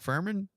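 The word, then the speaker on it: Fuhrman: He goes, Mark Furman, German, rhymes with German, racist.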